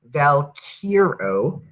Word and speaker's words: Valkyro: Valkyro wrote, it's pronounced Valkyro, in case you're feeling self-conscious about the pronunciation.